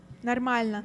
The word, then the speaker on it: Нормально: Normalnya. Нормально. Нормально. Нормально means okay. Okay. Say it. How do you say it? Нормально. Normalnya. Нормально. So it sounds like normal.